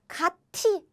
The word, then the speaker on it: 같이: probably say this, like 같이, right? But we don't write it like that. We pronounce like 가, 치. 같이.